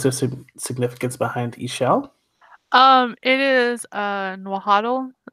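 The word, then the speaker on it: Ixchel: correct yeah or and so you pronounce it she'll or like her friends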